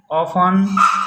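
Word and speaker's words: often: टी कब silent होता है? मेरे प्यारे बच्चों, देखेंगे टी ई एन और टी सी एच में टी साइलेंट होता है। जैसे लिसन, ऑफन, मैच, कैच।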